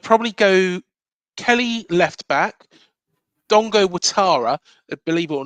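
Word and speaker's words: Dango Ouattara: go Kelly left back, Dongo Watara. Believe it or not, it's spelled Dango Utara, but it's Oh, right. Dongo Watara. That's how to say it, pronounce it in French.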